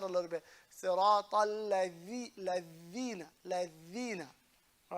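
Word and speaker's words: الذين: Ladhina. All right? Ladhina. Not ladina, not lazina. Not neither of those.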